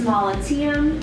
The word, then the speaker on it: Mollitiam: Me, I am Miss Mollitiam, is how you say that last name.